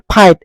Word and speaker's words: fight: ৰাইট গতিকে GHটো সাইলেন্ট ফাইট FIT ফাইট FIGHT ফাইট গতিকে আমি ফাইট বুলি উচ্চাৰণ কৰিছো যিটো GH সাইলেন্ট আছে ব্ৰাইট BRIT ব্ৰাইট BRIGHT